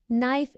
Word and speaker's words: knife: them for example can knife is incorrect knife is correct the K is silent in this word often is incorrect often